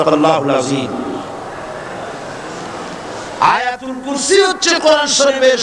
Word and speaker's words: আল্লাহ: নাম হচ্ছে আল্লাহ মুখটা একটু গোল হয়ে যাবে বলেন আল্লাহ আল্লাহ পৃথিবীতে বিভিন্ন জাতি তার স্রষ্টাকে, তারা যাকে স্রষ্টা মনে করে, বিভিন্ন নামে ডাকে।